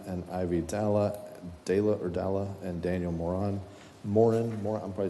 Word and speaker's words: Moran: Moran. Is that how you pronounce it? Moran? Moran. Okay.